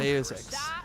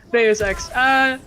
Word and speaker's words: Deus Ex: How do you pronounce those X again? Deus Ex. Deus Ex.